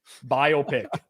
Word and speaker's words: biopic: in my place so for those out there biopic is how it's pronounced okay noted noted I had a teacher